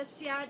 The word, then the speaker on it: Seah: actually the snake pronounced The as snake, Seah, 蛇咯，对咯， Seah Eu Chin, the Chinese pronunciation.